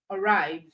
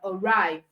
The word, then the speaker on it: arrive: Okay, if the two-syllable word is a verb, then it means it is stressed on the second syllable. Stressed on the second syllable. All right, we have words like arrive, right?